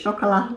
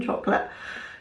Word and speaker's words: Chocolat: I think it's chocolat the way it's spelled rather than chocolate.